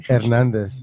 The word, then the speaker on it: Hernandez: Savannah Hernandez is joining us. Yes, hello. Hey. Hernandez, I guess. Really Hernandez. I know you kind of still do that, right? Yeah, I know. Like it's actually Hernandez.